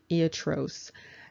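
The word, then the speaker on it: ἰατρός: and you can see that the word is pronounced iatros and so that means physician and you can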